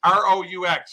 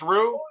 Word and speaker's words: Roux: R-O-U-X. How do you pronounce his last name? Roux. Is it pronounced Roux? Roux.